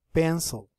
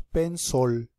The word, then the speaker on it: pencil: your pencil can penc tengan cuidado al pronunciar la palabra pencil pencil muchas veces se escucha como si tuviera una o como si dijéramos p sol y eso está mal pronunciado es una e pero es una I un poquito profunda prácticamente desaparece es como si nada más llegáramos hasta el sonido de la y luego dijéramos la l pen y la niña